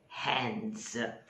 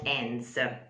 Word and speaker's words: hands: will be in the hands not ends which is the finishing part of something we need to use the h um again typically italian